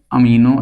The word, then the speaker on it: amino: इनको हम कहते हैं अमीनो एसिड या अमानो एसिड दोनों तरह से प्रोनाउंस